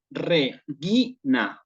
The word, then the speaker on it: regina: Que tengo yo aquí, esta, la voy a pronunciar propiamente como regina, regina. Algunos estrictamente dirían regina porque la R se suaviza, pero en realidad en realidad no se cumple eso y aquí se dice regina.